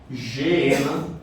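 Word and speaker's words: Geena: Como não tem o u, então eu vou falar gena, porque seria eh o mais correto de se pronunciar no nosso idioma.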